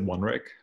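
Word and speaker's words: 1RIC: so we pronounce it one Rick essentially it's a studio that we've been doing a lot on mented reality work for the last couple years so it's a numeral one Rick okay I you know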